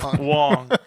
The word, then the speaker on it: Wong: but uh okay so Wang or Wong is it Wang or Wong Wong rhymes with dong Wong dong Wong okay so Wong has